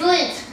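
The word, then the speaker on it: Lindt: It's Lint. There you go. Lint.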